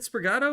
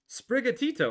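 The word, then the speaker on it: Sprigatito: Is it sprigato or sprigito? Sprigatoito. I've been saying it wrong this whole time.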